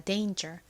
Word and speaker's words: danger: 하지만 정확한 발음은 여기서이 a가 a 소리가 나서 danger입니다. danger.